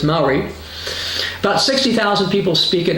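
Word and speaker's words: Māori: or I wouldn't know I would have said mayori but it's Mai about 60,000 people speak it as a primary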